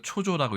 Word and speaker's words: 焦燥: 이 글자는 우리가 초조라고 읽습니다.